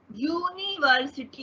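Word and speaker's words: university: क्यों? क्योंकि जो साउंड है, जो प्रोनाउंसिएशन है, उसके हिसाब से वहां पे कॉन्सोनेंट यू का जो है, वाई का जो कॉन्सोनेंट वाई का जो है वो साउंड आ रहा है। जैसे कि देखिए अ यूनिवर्सिटी, यू देखिए यू आ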